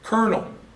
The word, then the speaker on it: colonel: Colonel. Colonel has no R in it. It's C-O-L. Colonel is actually what it looks like. Well, we pronounce a colonel. How the heck does an L become an R?